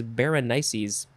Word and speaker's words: Berenices: means hair i mean i would call i would say bernice but the uh pronunciation guy says berenices anyway berenice's hair is